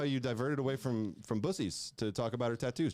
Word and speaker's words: Buc-ee's: It's pronounced Buc-ee's.